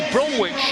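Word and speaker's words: Bromwich: Jesse Brmic or Jesse Brumich as he pronounces his own name from the Melbourne Storm.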